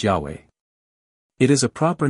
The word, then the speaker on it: Yahweh: them the tetrogram yhwh used to be pronounced Jehovah but now it is generally pronounced Yahweh it is a proper